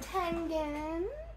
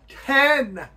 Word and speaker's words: Tengen: Tengen, not Tengen. It's an E, not an A, Dad. Pronounce it right, Dad.